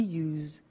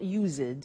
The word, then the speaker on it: used: don't have now we use used to look at the spelling s it's it's u e d and then t o but the pronunciation is not used it's us unusual used okay so the